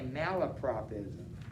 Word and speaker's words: malapropism: It's a malapropism. M-A-L-A-P-R-O-P. So mala, and then the word prop, ism.